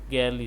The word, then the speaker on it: gingerly: It is not generally, but generally. The stress is on the first syllable. The word is pronounced like the word jingle.